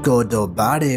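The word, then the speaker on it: ゴッドバレー: in a Celestial dragons in Japanese godvali is pronounced godobare which means the land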